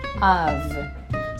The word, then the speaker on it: of: And then you follow that with an of. So of course, OF, the word the off, we pronounce it like of. Of, you know. It's an F, but it's pronounced as a V.